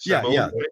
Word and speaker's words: sommelier: Is it sommelier? Is that how you say it? Sommelier?